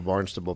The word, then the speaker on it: Barnstable: Well, let's get into Barnstable PD, and can you talk about that city and that department?